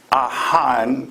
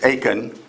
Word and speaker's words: Achan: There's an Israelite soldier named Ahan, or the English, the way it's pronounced is Achan, but in the Hebrew it's Ahan.